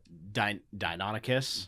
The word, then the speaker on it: Deinonychus: Wait, I know it says Velociraptor here, but it's a Deinonychus. Yeah, I always forget how to pronounce this thing.